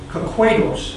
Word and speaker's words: Kahquados: And I pronounce the A as an A sound because in many places you'll find an E at that spot. which is the German letter A. So there are a lot of Germans that were reporting. Also, one of the Potawatomi, a young man, informed me that that's the word you should pronounce it because there's no H behind that A.